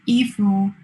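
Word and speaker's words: 衣服: In Chinese, Yifu means clothes. Coincidentally, in the same pronunciation, Yifu means attachment.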